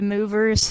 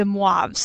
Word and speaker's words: De Moivre: Uh, if you want a fun way of pronouncing it incorrectly, you can call it the movers theorem. um that's kind of a fun way, but if you're actually trying for accuracy, it's the MUAV's theorem.